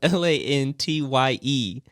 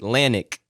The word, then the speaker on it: Lantye: It's spelled Lantye. My dad pronounces it Lantic, and the other parts of the family pronounce it Lanty.